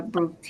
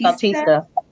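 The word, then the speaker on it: Bautista: this case, later identified as Cindy Bar uh Bratista. Batista. Yes. And it's spelled C I N D Y, last name Batista, B A U T I S T A.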